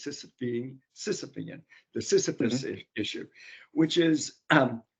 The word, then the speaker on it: Sisyphean: You know, it's the word that I like to use when I pronounce it correctly is Sisyphean, the Sisyphus issue, which is you think, and this is true for government too.